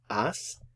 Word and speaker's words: has: h-a-s goes with du the H is silent ass look at your infinitive